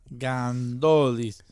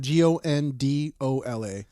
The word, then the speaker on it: Gondola: G O N D O L A. Pizza. G O N D O L A Gondola. Gondola. Gondola pizza.